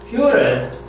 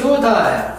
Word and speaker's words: futile: 영국과 미국 완전히 다르기 때문에. 자, 미국식 퓨럴. 퓨럴. 퓨럴. 영국식 퓨타일.